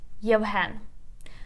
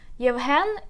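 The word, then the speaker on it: Євген: Now, for example, let's take a word Yevhen. Yevhen, it's a Ukrainian male name. Yevhen. Yevhen. So let's put the stress together. Yevhen.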